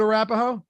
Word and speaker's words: Arapahoe: i'll take your word what arapaho is it or is it arapaho i think so okay arapaho thank you arapahoe county uh